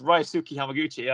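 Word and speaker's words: Ryusuke Hamaguchi: around i've already said it before yeah it's rai suki hamaguchi i know how to pronounce his name yes um i apologize ray suki hamaguchi if you're listening uh but i know to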